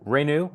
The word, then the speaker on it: Renu: time um uh uh Renu that's how pronounce your first name right yes welcome in how do